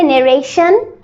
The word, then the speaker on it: narration: ওয়ার্ডটার pronunciation হবে নেরেশন।